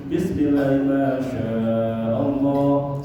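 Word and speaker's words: بسم الله الرحمن الرحيم: Bacanya itu kayak tadi Bu. Bismillahirrahmanirrahim. Syahnya panjang.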